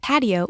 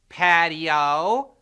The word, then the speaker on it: patio: both spanish and english in english we make patio a three-syllable word patio in spanish the i